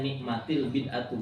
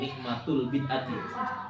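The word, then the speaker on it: نعمت البدعة: Bacanya nikmatil bid'atu bukan nikmatul bid'ati ya.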